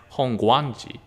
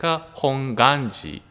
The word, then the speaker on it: Hongwanji: to hawaii people some people or muslim people pronounce this as hongwanji hongwanjia it's kind of true because you can see a w hong there are four people pronounce hongwanji but they're actually the pronunciations like hong ganji like without w hong ganji the reason why